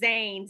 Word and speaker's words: Zayn: in this group knows yes is am i pronouncing it right when i say zayn terry says zayn z-a-y-n yeah him he has a song called